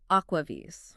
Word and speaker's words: AquaVis: And that's pronounced Aquaves.